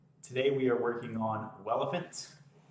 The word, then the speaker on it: Welephant: we are working on relevant it's spelled like elephant with a W open source this is